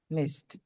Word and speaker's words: nicht: কেন আপনি নিক্ট বলবেন আপনি আপনি তো বাংলাতে উচ্চারণ করতে পারেন নিস্ট বলেন ঠিক আছে nicht.